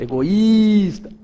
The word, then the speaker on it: egoísta: não é aquela ali egoista egoista egoísta aí então eu consigo ver que é o i a vogal tônica que que vai acontecer